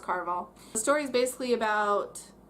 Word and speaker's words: Caraval: I think it's pronounced Caraval.